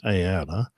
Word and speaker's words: aera: Aeronaut comes from Greek roots and is a combination of the word for air, aera, that's A, E with a squiggle over it, and an R, pronounced aera, and nautes.